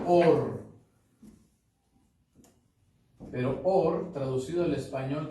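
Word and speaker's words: אור: Se pronuncia Or.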